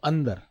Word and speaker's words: अंदर: अब जो मैं उच्चारण कर रहा हूं, अ के बाद एक न की ध्वनि बोल रहा हूं। अंदर। क्या बोल रहा हूं? अंदर बोल रहा हूं।